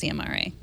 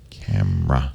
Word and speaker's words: CMRA: It's spelled CMRA, but it's not pronounced CMRA. Camera.